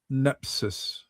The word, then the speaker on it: nepsis: And and this I I've been I've been studying more about nepsis. Nepsi nepsi is how you say it in Greek.